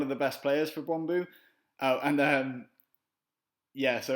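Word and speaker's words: Brøndby: the best players for bromo oh and um yeah so any English fans or English people watching this you're going to think that bromi is pronounced bromi but it's not it's pronounced bromo um that's something else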